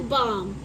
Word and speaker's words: balm: बाम लगाते हैं, तो उसकी स्पेल ऐसे होती है BALM, तो इसमें L साइलेंट हुआ है, तो ये क्या है, बाम।